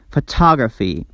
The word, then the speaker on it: photograph: We stress the first syllable in these words, which is the third syllable from the last. Photograph, paragraph, autograph, monograph.